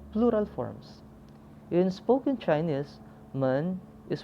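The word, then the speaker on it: 们: forms in spoken chinese man is pronounced with light neutral tone look at our examples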